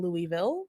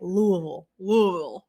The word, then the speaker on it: Louisville: I do want to call you out for saying Louisville. How do you say it? Louisville. Louisville. All right.